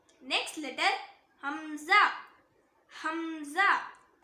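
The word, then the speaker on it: همزة: Next letter Hamza Hamza. இதுவும் same ஹ மாதிரி தான், தொண்டையோட அடி பாகத்திலிருந்து வரணும்.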